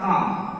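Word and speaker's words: calm: जैसे सी ए एल एम, यहाँ vowel ए के बाद एल है इसलिए एल साइलेंट होगा काम।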